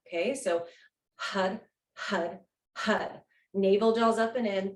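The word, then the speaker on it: Har: the mantra it's h it's spelled h-a-r but it sounds like hud okay it sounds like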